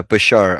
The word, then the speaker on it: Bashar: Yeah, Bashar.